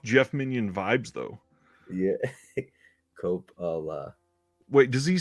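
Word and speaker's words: Coppola: into um Copa okay kapala kapala I think is how he's saying it kapala Francis Ford Copa is how I say it Copa is correct that's how I pronounce it he says Cala CPA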